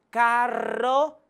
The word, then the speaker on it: carro: La R doble, que necesita ser pronunciada vibrando la lengua, como en carro, perro, que es distinto de la palabra que posee solamente una R, pues en este caso se pronuncia menos vibrante, como en pero, caro.